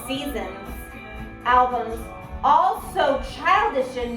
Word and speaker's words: SZNZ: As they listen to the Green Album and SZNZ Pronounced Seasons albums, all so childish in nature, in the